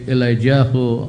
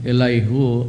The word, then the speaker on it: Elihu: Hiviben Matiao, it's pronounced if by Ben Matit Yao, the first ambassador to the Philippines, Rabbi Elijah Azaria, the Rabbi Elihu Azaria, that's how it's pronounced.